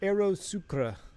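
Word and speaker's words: Aerosucre: well yeah we'll see it's pronounced Aeros sucra oh really Aeros sura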